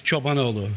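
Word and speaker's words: Cobanoglu: It's Chobanoglu.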